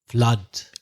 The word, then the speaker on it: flood: ooh but it's a flood yeah we've mentioned this before when we spoke about blood which is also double O with the same ah sound so flood in under